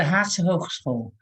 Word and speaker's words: Haagse Hogeschool: I cannot pronounce the Dutch word. May you please say it for me? Yeah, it's the Haagse Hogeschool, or The the Haagse Hogeschool.